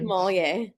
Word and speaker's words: sommelier: So American sommelier, I can never pronounce this word. Sommelier, the people who drink the wine. Sommelier.